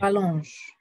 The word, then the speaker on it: rallongent: En cette saison, les jours rallongent, en effet. Rallongent. Très bien, en effet, ENT à la fin, on ne prononce jamais, attention.